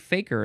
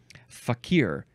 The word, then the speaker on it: fakir: first three versions are you're emphasizing the second syllable fakir fakir fakir FF fa or you can say is that a long I think it's fake I think it's Faker I think fakeer is the fourth pronunciation